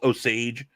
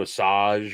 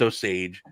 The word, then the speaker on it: Osage: so yes i can never remember how to pronounce these it's osage i always say it wasaj or soggy it's osage and uh yes uh i said he hand